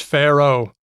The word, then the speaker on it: Pharaoh: there you go Oh in English you don't pronounce the second a do you no it's just Pharaoh oh you know how